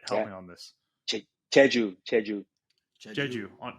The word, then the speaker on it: Jeju: the tea grown in, I'm not going to pronounce the name of the island right. Help Yeah. me on this. Jeju.